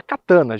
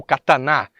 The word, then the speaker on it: Katana: Acima dela temos a HPE-S e a Katana, justamente, ou Katana, vai depender aí da sua pronúncia em português, ou mais puxado para o japonês, que seria a versão topo de linha.